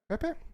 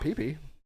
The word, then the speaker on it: Pepe: Also, Is that dude, how it's pronounced? Pepe? Yeah, it's not Pee-Pee.